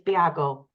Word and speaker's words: Bago: then um in Denmark it's a Danish surname and it's Bago so it doesn't sound like it's spelled and um and I